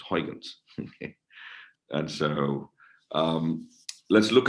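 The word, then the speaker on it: Huygens: So let's start the Hyuns algorithm discussion. This is stuff we did. The Dutch, actually, the proper way to say it, I've been told several times, is Hyuns.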